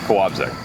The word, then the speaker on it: Kołobrzeg: The L with the slash through it is a W sound. Kołobrzeg.